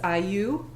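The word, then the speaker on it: IYOU: So one of my words, and this is actually the name of the poem, is Iyu, and it's spelled I-Y-O-U.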